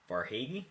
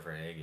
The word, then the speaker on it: Verhaeghe: A guy I want to mention who's actually second behind him in points is Carter Verhaeghe. Am I saying it correctly? Carter Verhaeghe.